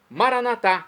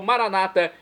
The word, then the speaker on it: Maranata: aramaico dialeto de Jesus maranat como dizemos nós católicos ou Maranata como dizem nossos irmãos das Comunidades evangélicas ou protestantes não importa pronúncia o significado é o mesmo vinde Senhor Jesus um